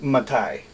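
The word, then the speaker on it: מתי: bow points and stuff it's not really in the rule book but I know it's pronounced Matai so let's go on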